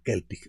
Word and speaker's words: Celtic: Se llama Celtic Woman y es Celtic porque aunque se escribe Celtic en gaélico o en celta, se dice Celtic Woman.